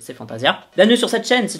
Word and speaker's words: Fantasia: réaction amongst à aix avec fantaisie déjà comme on dit fantasia bref en france est mal prononcé fantasia bienvenue sur cette chaîne